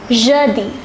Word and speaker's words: jeudi: The pronunciation is jeudi.